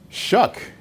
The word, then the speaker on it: Shough: it i don't know it's phonetic shuck s-h-o-u-g-h that wow okay that's different anyway as you guys know tyler shuck the uh transfer from